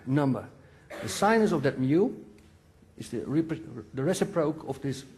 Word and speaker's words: mu: You also see here a angle, mu. The speed, mu, yeah. What's the proper English pronunciation? Mu. Okay, mu. From now on.